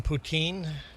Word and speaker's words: poutine: Every fast food restaurant in Canada serves poutine. Never heard of McDonald's, Wendy's, A&W. We all have poutine on our menu. Uh, the actual pronunciation should be uh poutin. Putin anglicized to put poutine.